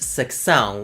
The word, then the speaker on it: secção: In Portugal, the word sessão, meaning a designated place within another place, is actually pronounced secção with an extra C in it, just like the word facto.